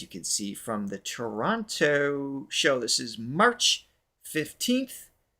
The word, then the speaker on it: Toronto: It's Toronto. Isn't it like really quick? Toronto.